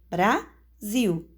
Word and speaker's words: Brasil: silábica da palavra por exemplo Brasil duas sílabas sílaba forte é a última viu então ela é uma palavra oxítona porque a última sílaba é a tônica e em seguida nós